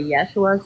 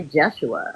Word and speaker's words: Yeshua: Some say Yeshua, some say Jeshua. I mean, you never know. But I know the what he feels like when he talks to me.